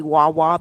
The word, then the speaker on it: guagua: bus it's called the guagua guagua really Wawa because the g is silent but it's g-u-a-g-u-a it's